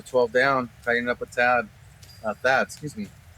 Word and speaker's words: Thad: Axel scoring, going to 12 down, tightening up with Thad. Excuse me. Got to pronounce the H in there. He's a big man. You can't say he's Tad anything.